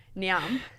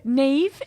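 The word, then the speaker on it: Niamh: Niam. Yeah. Neve, yeah.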